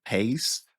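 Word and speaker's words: péist: How do you spell that? P E with an accent IST, paste. Paste.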